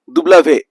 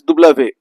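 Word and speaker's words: double vé: W is pronounced as dublave. So W is pronounced as dublave.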